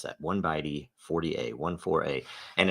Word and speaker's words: 0x14a: It is the that's 1byte 40a is how you pronounce that. 1byte 40a, 14a.